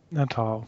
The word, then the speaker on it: Natal: How do you pronounce that? Natal.